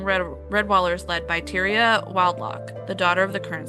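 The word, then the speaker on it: Wildlough: It's very important to me that you pronounce her name right. Okay. What is it, Caitlyn? It's Wild Lock. Wild Lock.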